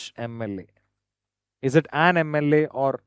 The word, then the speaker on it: MLA: When you say MLA, M, it is a sound comes first.